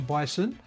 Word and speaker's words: Bison: Bison rhymes with Tyson.